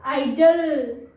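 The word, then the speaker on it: idol: Again अगर division करेंगे तो आई हमारा अकेला हो जाएगा, तो आइडल, ओके, इसमें ओ का साउंड नहीं है, आइडल, ओके।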